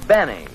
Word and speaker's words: Benny: No this is Jack Benny rhymes with penny if he can arrange it.